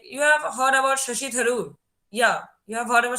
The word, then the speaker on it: Shashi Tharoor: Like you have heard about Shashi Tharoor. Yeah, you have heard about Shashi Tharoor. Like is his name like Arpit, is his name Shashi Tharoor? Yeah, like am I Yes, pronouncing it yes, right?